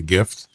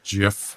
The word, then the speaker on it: GIF: And I never I just thought it was GIF. Not a big deal. As I said, is how many words that start with a G are pronounced like a J?